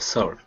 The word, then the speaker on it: salt: There's no L. Say it like this. Salt. Salt. Salt. That's it. Very good. So just remember, if your tongue touches the roof of your mouth, when you say salt, you're doing it wrong.